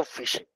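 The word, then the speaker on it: phishing: আসলে এই ফিশিংটা আমরা যে মাছ ধরি ওইটাকেও কিন্তু ফিশিং বলি। আর এইটা পিএইচ আইডি এইটা উচ্চারণ কিন্তু ফিশিং।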